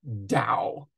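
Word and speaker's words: Tao: dysphoria uh the the Dao and Dao is spelled t-a-o and it is pronounced Dao as if it's with a d I don't know why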